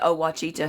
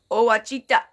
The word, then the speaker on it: Ouachita: and Ouachita River, and I call it Ouachita. He gets so damn mad. He said, "That ain't how you say it." I said, "I guarantee you that's how the Indians said it. I guarantee you that's how they said it."